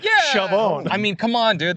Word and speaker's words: Chauvin: That's our Derek Chauvin. Derek Chauvin. Chauvin. No, I like Chauvin. No, I like to add a little like emphasis French to it. Yeah, Chauvin.